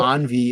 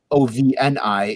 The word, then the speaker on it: ovni: it's weird because uh even Envy isn't right it's actually ovni is Spanish for like UFO or Flying Saucer so